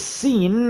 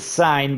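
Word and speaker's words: Lewis Cine: Free safety, Lewis Seen. I learned that. I always said sign, but it's actually pronounced seen by, obviously.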